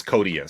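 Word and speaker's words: Koteas: think his name's pronounced is it Elias codius I I think it's codus yeah it's one of those I actually I actually ran that by patreon subscriber Melissa L for confirmation yeah because I'm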